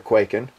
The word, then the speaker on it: Kwaiken: can do with your quaking you know and by the way you saw the spell that and I hope I'm saying it right it's k w a i k n not like earthquak and but the other one